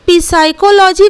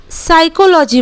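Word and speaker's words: psychology: का उच्चारण नहीं करेंगे जैसे की साइकोलॉजी हम लोग पीस साइकोलॉजी कभी नहीं बोलते हैं साइकोलॉजी बोलते हैं एस से ही शुरू करते हैं बिकॉज़ हेयर पी इस डी साइलेंट लेटर अगर मां लीजिए की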